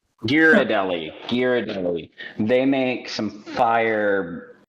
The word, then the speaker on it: Ghirardelli: Uh the Jerry I can't ever pronounce the name of that. Ghirardelli. Ghirardelli.